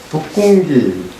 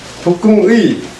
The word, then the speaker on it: 북궁의: 이장 북궁기, 이것도 이 발음이 기냐 의냐 이것도 뭐 서로 다른 게 있을 텐데, 여기 주의로 보면 의라고 읽으라고 되어 있는데 보통 우리 북궁기라고 읽었을 거야. 거기 뭐라고 되어 있어? 발음 의라고. 참 주의는 의라고 읽으라고 되어 있어요.